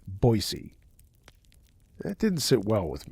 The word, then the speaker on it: Boise: his supposed hometown's name he called it Boise not boisey that didn't sit well